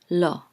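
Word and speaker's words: לא: the all sound and this is an Aleph which is silent so this is low low and it means no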